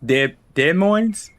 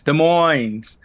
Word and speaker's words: Des Moines: Dead moines. De Moines. De Moines. That is how you say it.